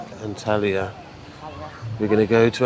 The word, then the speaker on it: Antalya: Antalya. Antalya.